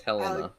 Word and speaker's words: Helena: No, it's Helena. Jeez. Helena. Will you take your Helena.